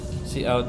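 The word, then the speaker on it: cout: okay um gets Nam so good to know see out is pronounced see out use for output and uses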